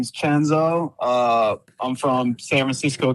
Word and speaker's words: Chenzo: But just to be clear, it's Chenzo, right?